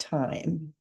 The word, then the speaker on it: thyme: And it is thyme. So it's thyme for time. Even though it's spelled thyme, it's pronounced thyme.